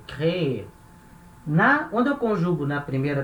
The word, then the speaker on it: créer: A última sílaba é forte, então eu tenho que falar ela, créer.